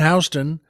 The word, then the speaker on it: Houston: Now, Houston, as you may know, is spelled like Houston. And there's a reason New Yorkers pronounce it Houston.